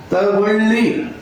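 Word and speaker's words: ತಗೊಳ್ಳಿ: लीजिए, तगोली, तगोली, ल 2 बार लिखा है, तगोली, तगोली होगा। ये इतना आप रख लीजिए,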